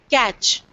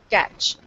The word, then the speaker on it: catch: top T is stressed catch T is not pronounced at all it's just there you know catch so you need to